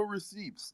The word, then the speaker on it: receipt: though like literally no receipts you made a commitment to stake your Bach token you know in the like staking thing for usdc until March 13th wow the p is silent bro I was literally